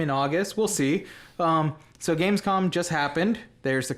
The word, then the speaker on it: Gamescom: So Gamescom just happened.